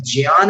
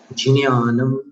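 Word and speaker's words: ज्ञानम्: यहाँ पर ज्ञान नहीं बोलना है, ज के बाद न्या बोलना है। न्या में नासिका का स्पर्श आएगा, जिन्यानम, ऐसा उच्चारण, जिन्यानम, जिन्यानम यथा, पर अनुस्वार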